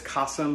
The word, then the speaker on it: Kasim: Hi, my name is Kasim, pronounced like awesome but with a K, and today I'm sharing a super simple, super summery recipe in partnership with Jam Jar.